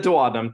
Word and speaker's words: duodenum: So here in the duodenum, that is the more common way I've heard it pronounced.